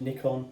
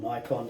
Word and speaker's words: Nikon: years I haven't used Nick on or Nikon depend on how you say it really at all to